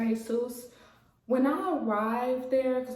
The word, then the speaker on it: DeJesus: to dr jesus um her name is spelled like dr d jesus so i know some people might call her that but the name is dr jesus when i arrived there